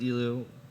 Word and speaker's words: Elihu: I think his name's pronounced Elu. It's spelled, where is it? It's spelled Elihu.